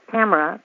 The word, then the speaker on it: Tamora: Tamora pronounced like camera. Camera. Like camera.